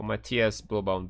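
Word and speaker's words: Matthias Blübaum: Matthias Bluebaum. Matthias, actually, sorry. Since he's German, we should try to pronounce the name as a German. So Matthias Bluebaum there.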